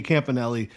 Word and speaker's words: Campanile: you also had Anthony Campanelli that is how you pronounce it according to M O'Brien of 1010 XL Anthony Campanelli the Green Bay Packers